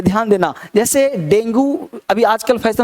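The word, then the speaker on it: dengue: जैसे डेंगू, अभी आजकल फैशन में चलता है, डेंगू किसी को हो गया तो इसको डेंगी बोलना है, डेंगी हो गया, डेंगी। ये है डेंगू, तो डेंगू नहीं, डेंगी, डेंगी हो गया। तो dinghy is a right pronunciation, तो dinghy is a right pronunciation.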